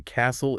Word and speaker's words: castle: It's not pronounced castle with a hard T sound. No, the T is totally silent. It's just C-A-S-L. Like the words listen or whistle. Perfect. C-S-L. So the castle is destroyed.